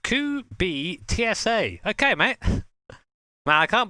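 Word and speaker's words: Kubica: thank you rare 80 says it's pronounced COO be TSA okay mate now I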